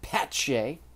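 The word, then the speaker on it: Pache: has been very good Christian patche silent T um it's been you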